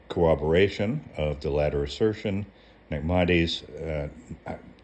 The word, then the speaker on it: Maimonides: In corroboration of the latter assertion, Maimonides, there's 4 syllables in the name, Maimonides, notes that the patriarch Abraham, as intimated by the sages, learned the reasons for the commandments through divine inspiration.